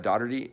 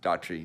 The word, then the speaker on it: Dougherty: was Nick dougherty dot I always say his name wrong Nick dougherty die said right dot dot tree da tree boom I doubt it anyway maybe not sorry Nick I apologize the GH silent it's confusing so anyway he